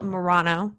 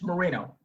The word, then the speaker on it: Moreno: me autumn clifford today we have uh el morano did i pronounce that right it's moreno mourinho and he is a former police officer